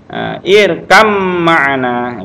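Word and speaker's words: اركب معنا: Nah, irkab ma'ana dibaca langsung ba sukun ketemu dengan mim, langsung ke suara mim. Ya, ini dia. Irkam ma'ana gitu ya, agak dengung ya.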